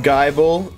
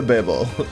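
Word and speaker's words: Gible: of pearl hi Gibble it's pronounced guyble like the Bible it's not the Bibble I want out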